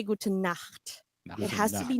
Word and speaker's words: gute Nacht: very important that we pronounce this word right, because if you say it in a different way, it means a different thing. So you want to say gute Nacht.